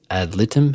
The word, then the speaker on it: ad litem: It was not until I met my lawyer, my guardian ad litem.